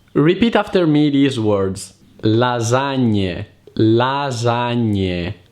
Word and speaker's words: lasagne: Lasagne, lasagne, salame, linguine. Always remember to pronounce the E at the end of the word if you want to sound like an Italian.